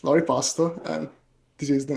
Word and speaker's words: Loripasto: And it's Lori Pasto.